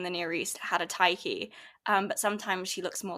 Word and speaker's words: Tyche: Okay, so I'm gonna say this in the English pronunciation, but I know Greek people out there are gonna kill me for this. But I research the Greek goddess Tyche or Tyche.